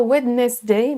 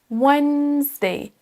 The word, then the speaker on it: Wednesday: Pour ce mot, attention à ne pas prononcer le D. On ne dit pas Wednesday, mais Wednesday. Wednesday. Le D, en fait, on ne le prononce pas, il est silencieux.